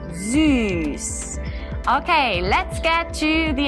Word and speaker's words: süß: have the German word for sweet, which is süß. We have seen it already in one of our last series for the S, and this time we use it to pronounce the Ü, süß.